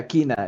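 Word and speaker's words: Kyne: I think like the ones that are like clearly have a different one is Kinnereth, who is called Kine by the Nords. Yeah, Kina.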